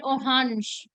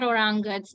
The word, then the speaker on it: Orange: on the point guess orange is a word that German decided to throw it away from the pronunciation Rule and they have made their own pronunciation which is more of a French pronunciation it is a hunch they call it oh Hans not orangas or Hansen it's a very I